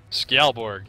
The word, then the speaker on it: Skjaldborg: Skjaldborg.